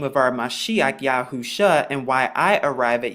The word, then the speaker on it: Yahusha: Now, the Shin in the Hebrew, which is what you find right here, it's pronounced like sh or sh, and the Ayin is actually silent in the Hebrew, but it makes the uh sound, which is right there.